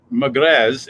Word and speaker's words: Magrez: It's from Casa Magrez, Magrez. Maybe you don't pronounce the Z. Maybe it's just Magrez.